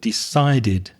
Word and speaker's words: decided: Notice the pronunciation on the past of decide there because it finishes with a d. So, we add the extra syllable decided like ended for example.